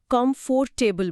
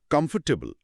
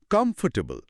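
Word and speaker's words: comfortable: আমি স্বীকার করছি, আমি অনেক দিন পর্যন্ত এটাকে কমফোর্টেবল বলেছি। এটা খুবই সাধারণ একটা ভুল। এর ফনেটিক্স হল কমফোর্টেবল। খেয়াল করুন, এখানে ফট অংশটা প্রায় উধাও। সঠিক উচ্চারণটা হল কমফোর্টেবল, মাত্র ৩টি সিলেবল।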